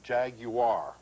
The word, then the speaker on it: Jaguar: who have driven one insist the pronunciation be Jaguar Jaguar Jaguar you got to remember